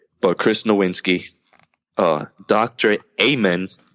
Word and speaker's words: Amen: Chris Nowinski Oh doctor amen so dr. Ayman just how it's spelled Kevin Pierce was a